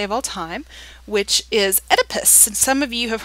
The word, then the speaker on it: Oedipus: So yeah, and that's how you pronounce his name, Oedipus.